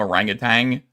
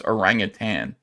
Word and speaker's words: orangutan: Because it's actually spelled, you want to call him orangutan because it rhymes, but it's orangutan.